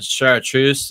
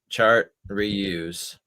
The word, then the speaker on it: chartreuse: It's spelled chart reuse as a French word chartreuse.